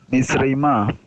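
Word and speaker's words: מִצְרַיְמָה: Actually three syllables in that one, right? Yeah, mitzreima.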